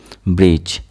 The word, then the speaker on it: bridge: Here D will be silent. Bridge. Bridge. Here D is silent.